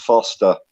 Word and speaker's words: Forster: the same way, but it's pronounced Foster for some pretty bad beer too. Australians, eh? I think my accent as well don't help because I've got my London accent, so I don't pronounce all my letters correctly. I'm really sorry about that. Yeah, definitely. Forster sounds too posh, doesn't it?